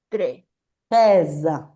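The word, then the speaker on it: treize: Tres, acuérdense que está con la e más abierta.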